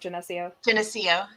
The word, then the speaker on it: Geneseo: So then we'll have Jim Gray from Geneseo, Kansas. Did I say that right? Geneseo.